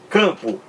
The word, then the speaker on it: campo: Campo. Não é pronunciado. Você não pronuncia esse M aqui de campo. Você não pronuncia como pronuncia o M de merda.